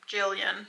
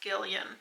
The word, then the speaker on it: Gillian: gond Girl by I I think I pronounced her name Jillian but apparently it's Gillian but I finished listening